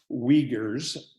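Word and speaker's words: Uyghur: country of China so the we Gers pronounced the Uighur spelled uy g hu rui gh you are as a Muslim minority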